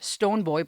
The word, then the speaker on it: Stonebwoy: Stonebwoy, pronounced Stonebwoy, but spelled Stone, Bwoy, is Ashamayan from the greater Accra region of Ghana.